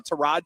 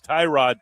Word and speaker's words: Tyrod: By the way, that that pronunciation has changed again. I've been told emphatically by Packers PR that is Tyrod Taylor.